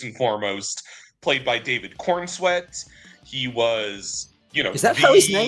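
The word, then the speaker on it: Corenswet: Uh, first and foremost, played by David Cornsweet.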